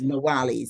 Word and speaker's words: Nawili: It's Nawili, sister Nawili.